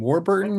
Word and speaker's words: Warburton: Warburton.